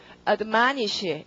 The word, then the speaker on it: admonish: 자, 그럼 뒤로 가시고 그 다음 단어는 강세가 MON 그 O에 있습니다. 아까 발음은 어떻게? admonish 이렇게 돼야겠죠?